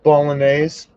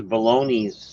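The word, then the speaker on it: Bolognese: for the Lebanese Le it's pronounced bolog Oh bolog I thought it was balone bolog baloney sauce you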